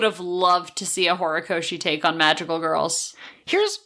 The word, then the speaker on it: Horikoshi: Horikoshi. Thank you. I butchered the name, and I'm so sorry for that.